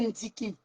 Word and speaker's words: Ndiki: Ndjene, mon frère, au direct de ta soeur, tu prononces mon nom, Ndiki. Mon nom, c'est Ndiki. Prononce mon nom, tu prononces bien mon nom.